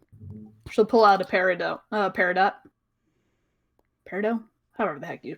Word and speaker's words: peridot: Peridot? However the heck you pronounce it.